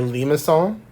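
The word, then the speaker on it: limaçon: shape is called a lima song as a funny french like sadea or whatever it's pronounced like an s specifically this is a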